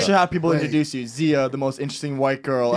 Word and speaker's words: Xia: Yeah, but you're supposed to pronounce it Xia, but I don't know if my parents knew that.